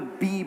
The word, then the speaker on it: BE: So let's first begin by talking about B. I just want to clarify again, it's spelt B-E, but the brand is pronounced B.